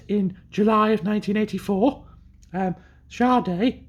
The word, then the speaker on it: Sade: um Sharde not said not Sade as it says it's just it's pronounced charde I've checked um named after the lead singer